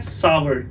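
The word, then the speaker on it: sour: और आपको ये तो पता ही है, खट्टे को बोलते हैं सावर, इसका प्रोनाउंसिएशन है सावर, ठीक है, सावर.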